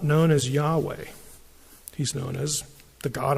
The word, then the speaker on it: Yahweh: But my name is I am which in Hebrew when the first person speaker is speaking is when you refer to that person, the pronunciation is Yahweh.